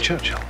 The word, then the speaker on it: Churchill: sir James's visit his Churchill Churchill that's how you say it all together like that I'd heard church and Hill but couldn't find either all I could see